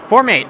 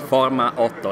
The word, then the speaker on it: Forma.8: just say from hate formate okay i know it sounds different in italian so in english it's a bit different it's forma otto in italian so strange name all right so for formate uh yeah yeah well